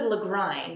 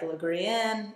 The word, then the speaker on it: Lagrein: going to come through this is the legrine that's how you pronounce that even though it looks like lagrienne no la grine from praxis the 2007